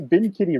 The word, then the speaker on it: Bin Kitty: was like you know the bin kitty rhymes with sin city i'm like yeah it